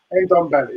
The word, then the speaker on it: Ndombele: This player that's just come on, I don't know how to pronounce his name. Ndombele, is it? Ndombele? Ndombele, isn't it? Ndombele, that's it.